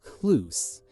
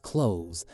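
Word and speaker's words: Cluse: I don't know if I'm pronouncing her last name correctly, but c l u s e. I believe it's pronounced Clouse. Even though I've heard people call it Close.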